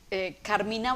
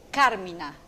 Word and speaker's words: Carmina: es la más propicia carmina burana realmente deberíamos pronunciar carmina carmina burana porque carmín es canto y no es una palabra latinizada y burana de vio